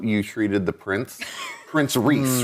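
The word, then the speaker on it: Rhys: it yeah it's it's RH Ys but it's pronounced Reese Reese so Reese Reese so uh how you dealt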